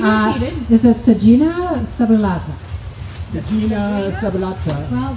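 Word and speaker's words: Sagina subulata: Sagina sabulata. Well, there's a G followed by an I, which would be a soft G.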